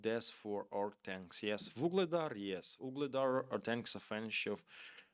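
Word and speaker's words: Вугледар: Season, not Vuledar, Vuhledar. It's pronouncing right Vuhledar.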